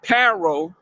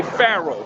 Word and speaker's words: Pharaoh: talking about an F, but it's really Pharaoh with a P. You don't say Paro, you just say Pharaoh because that would be the proper way to say it because they changed the languages of the words.